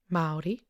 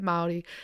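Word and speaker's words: Māori: took a little bit extra time to actually pronounce the name right. Maori.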